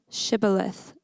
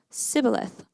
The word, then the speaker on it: shibboleth: I'm not they would tell him to say shibboleth if he was from Ephraim he would say sibileth because people from aphram cannot pronounce the word correctly then they would take